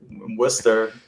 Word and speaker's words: Worcester: Yeah, for those who don't know, we are in Massachusetts, so it is Worcester, Massachusetts. It's the town that doesn't look like it's pronounced Worcester.